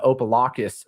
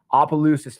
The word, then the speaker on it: Opelousas: have um San Diego going to opa-lockas Louisiana and I'm pretty sure that's how you pronounce it Appaloosas excuse me Opelousas Louisiana and you get